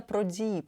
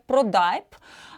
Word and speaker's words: Prodipe: звукового обладнання у Франції назва бренду вимовляється про дії таким продовгуватим і в Америці в Німеччині його вимовляють як продайп А в Польщі про діб тому бренд спокійно ставиться